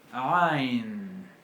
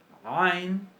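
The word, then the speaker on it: ע: Bueno, básicamente para practicarla podemos comenzar pronunciando una A. Nos ponemos 2 dedos en medio de la clavícula, en la garganta, y presionamos suavemente, como si nos estuviéramos ahorcando. Es el sonido del ahorcado.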